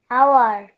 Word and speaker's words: hour: We waited for an hour. এখানে অ্যান কেন হলো আদিব? স্যার আওয়ারের এইচ এর উচ্চারণ ওর মতো হচ্ছে বলে। ও এর মতন, ও এর মতন হচ্ছে না, অ এর মতন হচ্ছে।